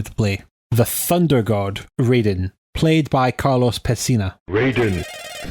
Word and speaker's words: Raiden: In Japanese, as far as I know, we've watched a lot of anime, so it should be pronounced Raiden. It should be pronounced Raiden.